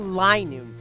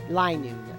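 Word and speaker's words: Linoone: Oh, Linoon. I was saying a little one. But no. Linoon.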